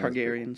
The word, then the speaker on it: Targaryen: Targaryens. Is that how you pronounce their name? Targaryen? Yeah.